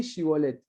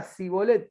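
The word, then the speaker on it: Shibboleth: Si él respondía no, entonces le decían, ahora pues di Shibolet. Y él decía Sibolet porque no podía pronunciarlo correctamente.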